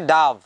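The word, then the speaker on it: dove: the story of দ্য ডাভ অ্যান্ড দ্য ব্যাট আর একটা জিনিস খেয়াল করবা ডিওভিই ডিওভিই ডিওভিই কথাটার মানে হচ্ছে ডাভ এর উচ্চারণ কিন্তু ডোভ হবে না অনেকে আমরা হয়তো ভুল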